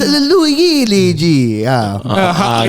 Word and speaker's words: Luigi: itu Luigi. Luigi. No, you must say it properly. It's Luigi.